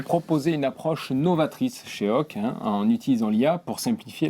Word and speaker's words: OAK: Aujourd'hui, nous avons un invité de marque, Nicolas Pazzetti, CEO de Hawk, qui signifie One of a Kind. Est-ce que j'ai bien prononcé tout ça ?